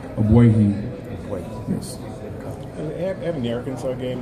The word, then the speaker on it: Ogbuehi: Give us the correct pronunciation of your last name. Ogbuehi.